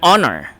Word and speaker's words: honor: you another example of this is an honor okay an hour which is also in silent letter H that's why we say an honest person and not a honest person all right this question